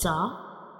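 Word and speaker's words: ز: This is the inner view of mouth, how we pronounce za.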